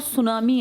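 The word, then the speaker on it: tsunami: इसके आसपास बहुत ज्यादा ज्वालामुखी विस्फोट और सुनामी आते हैं। सुनामी किस भाषा का शब्द है? हां। इसमें टी साइलेंट है।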